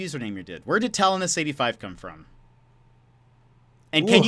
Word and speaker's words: Talonis: Where did Talonis85 come from? And can Ooh. you confirm the pronunciation? I think a lot of people would like that." Okay. The pronunciation is Talonis. Uh, or Taloni.